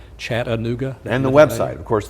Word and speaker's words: Chattanooga: announcers around the nation how to say the name properly chat aooga and the website of